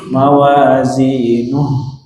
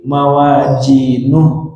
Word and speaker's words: mawazinuh: Mawazinuh. Yang fatal ketika mawajinuh pakai jim. Mawajinuh atau mawazinu dengan ha.